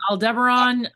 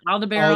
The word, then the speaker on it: Aldebaran: You can say Aldebaran, Aldebaran.